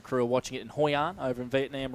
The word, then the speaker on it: Hoi An: David Sinclair, and crew are watching it in Hoi An over in Vietnam right now. So shout out to those guys. Where was that? Hoi An, that's in Vietnam.